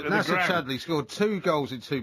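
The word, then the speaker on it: Nacer Chadli: I do you know same pronunciation as the national aeronautic space I have understanding of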